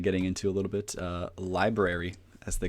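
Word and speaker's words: LBRY: into a little bit library as they call themselves how did you spell that again lbr why library so library what it is is pretty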